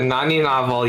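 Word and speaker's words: Naninovel: Uh, nani novel. Yes. Um yeah, that's for Terra though. She she's Yeah, it's the Yeah, the nanny novel um plugin in Unity.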